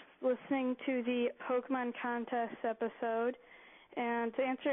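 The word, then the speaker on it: Pokémon: Here's James Song on my iPod and I noticed that every time they said Pokemon, they said Pokeman and that's the wrong pronunciation.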